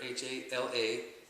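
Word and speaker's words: jalapeño: Jalapeno. And just pronounce it all together as one word. Jalapeno. Jala, pen is in you write with, and yo. Jalapeno.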